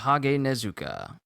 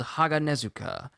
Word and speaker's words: Haganezuka: chimes i am called jage nezuka uh i just i just i just butchered that name i am called haganezuka i am he who